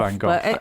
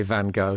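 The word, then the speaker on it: Van Gogh: obviously for many years I van go I think Americans say van go don't they I think they do oh it's not moment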